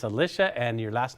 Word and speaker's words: Alisha: to heritage power now your name's Alicia Alisa see I said it wrong it's Alicia and your last name